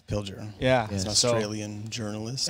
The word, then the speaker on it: Pilger: democracy yeah by uh john pilger john pilgrim i think that's how you say his name i've never heard his name said i believe you're right yeah i think it's pilger yeah he's an australian